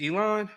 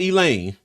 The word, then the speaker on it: Elon: is it Elon? Is that That's right, because you called it Elaine.